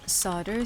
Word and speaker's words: solder: Solder, spelled solder, but not pronounced that way.